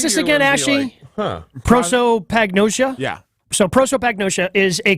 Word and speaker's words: prosopagnosia: So how do you pronounce this again, Ashy? Prosopagnosia?